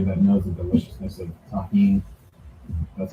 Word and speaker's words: tahini: Shout out to everybody that knows the deliciousness of tahini. That's how you pronounce this.